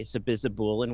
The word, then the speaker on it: sabizabulin: I think initially I thought there was a T in there, but I would say sabizabulin with an L.